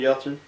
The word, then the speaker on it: Yelchin: Anton Yelchin.